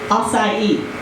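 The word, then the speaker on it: açaí: Acai.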